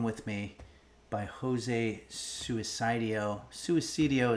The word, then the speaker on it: Suicidio: Suicidio is the correct pronunciation, but um yeah, let's go ahead and get back to work here.